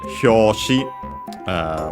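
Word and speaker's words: 表紙: We have Hyoshi, which means cover of a book, magazine, and so on. It's a Chinese compound, by the way, but it's accented on the last syllable, so be careful.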